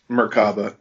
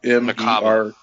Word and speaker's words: Merkaba: But it's like Merkalaba is what he says. It's the word is almost like that, and Merkaba, I believe, is the actual word, and at least that's what it looks like when it's spelled.